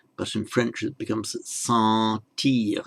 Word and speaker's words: sentir: The N isn't pronounced as a separate consonant, but it has the effect of nasalizing the vowel. So in Spanish it would be sentir, but in French it becomes sentir.